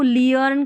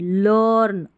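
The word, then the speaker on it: learn: अब इसको लियर्न करके नहीं, लर्न, अर करके पढ़ा गया है।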